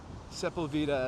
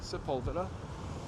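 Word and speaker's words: Sepulveda: so we're at Santa Monica and sepulvida or sepula as it should be pronounced but in Los Angeles they say seula uh I could eat soft serve ice cream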